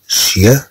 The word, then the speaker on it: chien: voici mon petit chien، ها هو كلبي الصغير، chien chien ch تنطق ش ch تعطي الصوت ش chien chien chien.